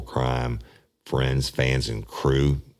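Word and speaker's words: krewe: crime friends fans and crew crew being spelled with a K that's a Louisiana uh term marra thing k r e we and we have 25,000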